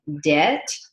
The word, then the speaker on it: debt: Money from the bank is called debt, D-E-B-T. The B is silent.